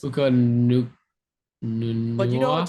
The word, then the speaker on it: Puka Nacua: How do you pronounce it? Puka Nacua.